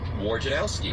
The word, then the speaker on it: Wojnarowski: The words say war, gin, something to drink every day. Sure. Owski. Wojnarowski.